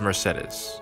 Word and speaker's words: Mercedes: See, and I noticed Sylvain said Mercedes. I guess you got different ways to pronounce it. And I'm pretty sure Mercedes explained it to Cyril. It is Mercedes.